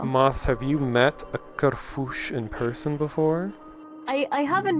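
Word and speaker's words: Kerfuś: feel cool and being like, it's Kerfush, not Kerfus, Kerfush.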